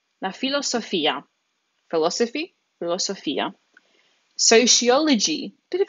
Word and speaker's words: filosofia: Philosophy, now that PH actually changes into an F in Italian. There's no PH combination like in English. That becomes la filosofia. La filosofia.